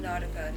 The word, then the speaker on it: Nautica: How you pronounce it? Nautica. Nautica. Is that how they pronounce it in that country? No, it's just Nautica.